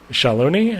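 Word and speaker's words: Shaaloani: the the big bridge into Shalon I think is pronounced. I think I was saying that wrong the whole time, but Shalon.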